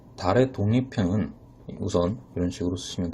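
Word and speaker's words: ذال: 자, 왼쪽에 있는 발음이 조금 어려울 수 있는데 혀를 문 상태에서 디귿 소리를 내면은 살짝 발음이 세게 되어 바람 소리가 나오게 됩니다. 혀를 물고 있기 때문에. 그래서 혀를 물고 있는 상태에서 달을 발음하게 되면은 달이라고 발음이 되게 돼요. 그래서 살짝 발음이 새는 디귿 소리라고 생각하시면 되겠습니다.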